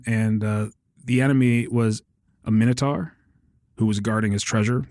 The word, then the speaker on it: Minotaur: the enemy was a Minotaur who was guarding his treasure, the Treasure of Tarman. But my mom, for whatever reason, pronounced it Monitor.